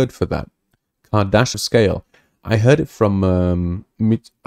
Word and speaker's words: Kardashev: Kardashev.